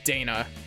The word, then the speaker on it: Dana: I pronounced it as Dana there, it's Dana. But...